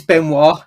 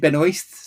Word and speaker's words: Benoist: name properly though because it's benoir not Ben but she does pronounce it Ben oist so yeah time does